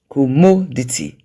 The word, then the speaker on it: commodity: Commodity. Commodity. The stressed syllable there is mo.